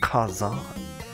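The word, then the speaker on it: 火山: for volcano is actually Fire Mountain and it's pronounced Kazan I think I might know the answer to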